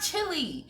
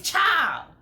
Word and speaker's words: chile: pronounced it is not chili it is not chile it's child it's a shortened version of child grammar lesson time do